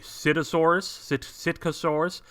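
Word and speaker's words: Psittacosaurus: This next dinosaur is called a Sitcosaurus, but it's spelled like pistachio.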